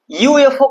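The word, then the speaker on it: UFO: यू एफ ओ का उच्चारण जो होगा यू से होगा, ऐसे य वाला। देखने में तो भवेल है, लेकिन उच्चारण इसका हिंदी के अनुसार य आ रहा है, इसीलिए क्या होगा?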